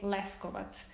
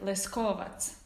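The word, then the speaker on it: Leskovac: i would for example i would say less covert which is like the accent is on the first syllable so many words are like that and they would be like leskovat right so it's on the second syllable is that how would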